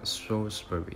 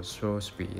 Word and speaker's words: Shrewsbury: 地人呢，很多時候會以為他是讀 Shrewsbury，不過呢其實英國本地人呢是讀做 Shrewsbury 的。